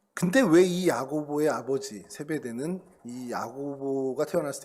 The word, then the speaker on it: 야고보: 이름이 연결되는 분이 있죠 야고보 그러면 야고 예 같은 말입니다 같은 말인데 어 약간 이제 헬라식 발음으로 이제 좀 하다 보니깐 야고보 이렇게 좀 발음이 되는 건데요 이코스 이제 이거 헬라어로